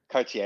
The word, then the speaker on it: Cartier: Well, it would work if it was Playboy Cardi, but it's Cartier. Cartier. Cartier is the pronunciation.